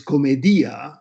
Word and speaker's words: Commedia: We refer to the work as Divine Comedy, but probably the proper title is Commedia, which is how Dante would have pronounced the word comedy in Greek.